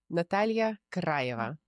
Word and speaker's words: Natalya Krayeva: My guest here today, Natalya Krayeva. Did I get it? Correct. Yes. Say it. You say it so beautifully. How do you say it in Russian? Natalya Krayeva.